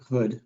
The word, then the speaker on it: Hood: Am I saying your last name correctly? Is it like? I pronounce it Hood, but Okay.